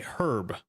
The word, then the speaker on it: Herb: You pronounce the H when it's a name. Okay. I will try to remember that. Okay. Herb.